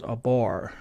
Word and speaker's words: Ibar: to confirm it that the I is really a short A sound, so it's Abar, Sharash Abar.